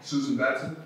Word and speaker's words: Susan Batson: i recommend those um there's suzanne um batman i believe that's how you say her name has it is that right that's it susan batson yes yes but she